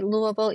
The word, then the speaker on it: Louisville: be able to say Louisville easily unless you see that Lou like just say it like that. Lou, that's how everybody from Louisville says it and it's just